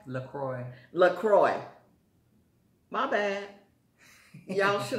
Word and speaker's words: LaCroix: crummy okay thank you i've been calling it lacrosse and my son hit me up the other day he was like mom that's not called lacrosse you're pronouncing it wrong is what lacroix lacroix my bad y'all